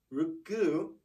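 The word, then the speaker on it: ろく: thing for number six ruku is the normal sound you might hear them say something like look it just kind of cuts that off okay again that's just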